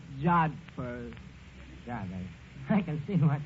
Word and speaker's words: jodhpurs: Absolutely beautiful, Eddie, in her riding pants and her jod hoppers. It was love at first sight. That word is pronounced jodhpurs.